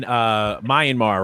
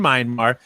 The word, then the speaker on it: Myanmar: We all know what's going on in Myanmar, right? With the protests and people being, how do you pronounce it? How you pronounce it? You said it fine. I said Myanmar.